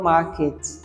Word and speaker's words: market: Another example is the word market. A British would pronounce it like as market, and an American would pronounce it like market.